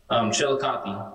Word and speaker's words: Chillicothe: How do you pronounce it? Chillicothe. Chillicothe.